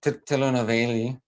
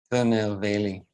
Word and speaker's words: Tirunelveli: And so Tirunelveli, yeah, Tirunelveli.